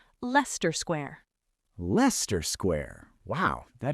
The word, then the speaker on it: Leicester: This is a very famous area in central London, but it is not Leicester. It is Leicester, just 2 syllables, Leicester Square.